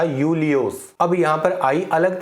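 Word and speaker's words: Iulius: था लाइक जैसे कि जूलियस सीजर बट इसको प्रोनाउंस किया जाता था यूलियोस अब यहां पर आई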